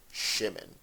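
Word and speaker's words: שמעון: of the hebrew name shimon in ashkenazi hebrew we would pronounce it shimin so assuming that scott's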